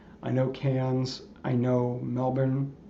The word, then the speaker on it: Melbourne: I know Melbourne. Did I sell my Did I say it right? Melbourne. Yeah, Melbourne.